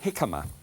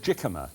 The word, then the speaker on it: jicama: Here is a jicama. It looks as if it should be called jicama, but it's not. It's pronounced, it's with a J.